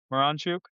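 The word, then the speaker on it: Miranchuk: Pronounce this name. Moranchuk. Moranchuk.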